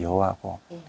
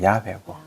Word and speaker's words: 야훼: 발음을 우리나라 말식으로 하면 여호와고 저쪽으로 하면 야훼고 야훼의 뜻이 I am who I am.